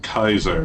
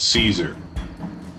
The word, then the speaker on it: Caesar: Dam remains it's funny the legion pronounces it Kaiser which is actually a appropriate Latin pronunciation but you see Mr H calls it Caesar I just noticed that